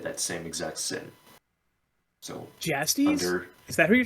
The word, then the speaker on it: Jastes: Jastes. Yeah, Okay. his friend who brought the Koloss that he... I think you're the only person I've Beheaded. ever heard pronounce the J like a Y.